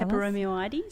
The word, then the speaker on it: Peperomioides: Peperomioides. Thank you. Kind of just say that last bit really fast.